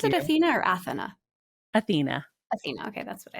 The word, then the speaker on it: Athena: of course and congratulations on Athena do you pronounce it Athena or Athena Athena Athena okay that's what I thought so